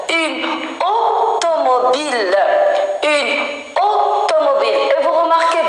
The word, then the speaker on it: automobile: Une automobile. Une automobile. Et vous remarquez bien, le O, c'est pas un O ouvert. Automobile. Pas automobile. Par contre, le O ici, regardez. Automobile. Ici, c'est fermé.